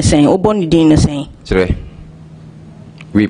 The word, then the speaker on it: Kyere: And u pronounce ne sen obo ni dino sen Chire. We pronounce it, I pronounce it Chire. Chire.